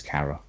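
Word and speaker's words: Cara: Kara Kara Dean isn't it's not Carlos Carradine she's actually said the correct pronunciation is Kara she's an excellent rebel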